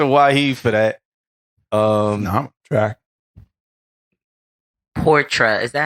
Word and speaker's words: Portra: Portra. Is that how you say it? Yeah, Portra. Is it Portra or Portia?